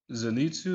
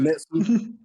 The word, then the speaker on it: Zenitsu: You know, so I mean second favorite is gonna be Zenitsu. Is that how you pronounce his name? Lightning dude. Zenetsu.